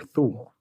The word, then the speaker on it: Thule: The tool deck. Is it Tool or Thule?